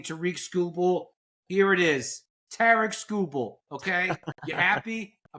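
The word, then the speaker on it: Tarik Skubal: out for mispronouncing Tariq Skubal, here it is, Tarek Skubal. Okay, you happy? I pronounced it right.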